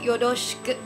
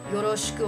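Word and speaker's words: よろしく: A lot of people pronounce it like the English R, or they try to roll it like the Spanish R, but according to the standard Japanese accent, that's not quite right.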